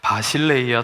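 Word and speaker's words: Basileia: 헬라어로 하나님의 나라 하면은요 저렇게 생긴 글씨가 나오고요 바실레이아 투 태우라고 읽습니다 그런데이 나라는 우리가 흔히 생각하는 요런 나라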